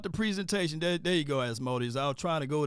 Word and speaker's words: Asmodeus: There you go, Asmodeus.